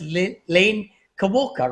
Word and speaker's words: Lane Kawaoka: Lane Kawaoka, right? Did I pronounce it right?